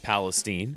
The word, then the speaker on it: Palestine: The fine municipality of East Palestine, Ohio, is pronounced Palestine.